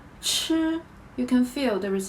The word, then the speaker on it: 吃: Now, let's talk about 吃吃吃 The shape of your mouth are exactly the same as 知.